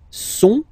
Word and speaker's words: sont: Ils sont, final T not pronounced.